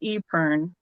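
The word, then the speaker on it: épergne: it French or yeah something but yes it's pronounced eern you put some you know me you could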